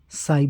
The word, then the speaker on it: psy: यूज किया जाता है पी को साइलेंट रखते हैं प्रोनंसिएशन में लेकिन स्पेलिंग में पी एस वाई इस तरह से यूज करते हैं तो यही है इसका